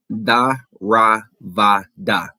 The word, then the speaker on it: Theravada: And they themselves are responsible for the spread of, I'm going to say this and then I'm going to spell it. Theravada.